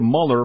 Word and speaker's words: Mueller: it will be uh Robert Mueller actually pronounces his name Mueller uh last name spelled m l l r uh Mueller himself is